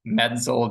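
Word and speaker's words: MEDSL: data and science lab which we call medel just pronouncing its acronym medel we're doing a lot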